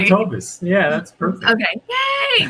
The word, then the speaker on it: Toves: I said it wrong, Tovaz. Toves. I Dang it, I said it knew I right. was going to say it wrong. Never fails. I'm sorry, Jesse. You got it right. You said Okay. Tovis.